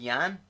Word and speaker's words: Jan: Is it Jan? Yeah, the J is pronounced like a Y.